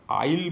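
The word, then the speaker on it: isle: Next question को जिबा, which letter in the word देखो आईएसएलई देइछि, आईएसएलई रे केउ लेटरटा साइलेंट अछि। तो एटा एक्चुअली प्रोनाउंस हुए आइल बोली प्रोनाउंस हुए, तो एस एठी साइलेंट अच्छी।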